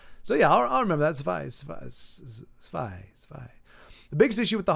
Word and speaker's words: zwei: Sounds like zwei. Okay. Rhymes with I.